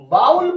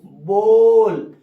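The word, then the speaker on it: bowl: ठीक है, क्या पढ़ते हो इसको? कहोगे सर बाउल पढ़ते हो, बाउल। गलत है मेरे भाई, गलत गलत गलत। सही क्या है? सही प्रोनाउंस होता है बोल। क्या होता है? बोल होता है।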